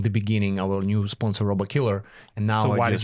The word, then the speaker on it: Robokiller: So we got our first sponsor, Robocall.